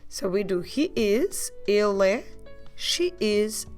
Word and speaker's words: ele: The word for he is more a closed vowel, so you don't open much your mouth, you do a il.